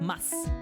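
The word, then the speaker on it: ます: So just remember in certain situations like such as like this one the the u insue here is not pronounced. So it feels more like mas like you know this the Spanish you know so wake up.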